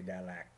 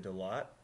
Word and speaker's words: Đà Lạt: In Vietnamese we say Đà Lạt. In English we pronounce it Dalat, and it is a very quaint little village that's at one of the highest points in Vietnam.